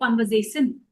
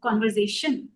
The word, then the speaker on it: conversation: is that conversation yeah all these are having a shun in the end ti n is always pronounced as a sh. Right? So by mistake a Hindi speaker would say conversation instead of conversation.